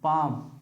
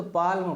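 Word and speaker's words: palm: मान ली यहां लिखा पी ए एल एम पाम पाम means होता है हथेली पाम मींस क्या होता है हथेली इसको अगर पढ़ते तो पालम पढ़ते लेकिन एल क्या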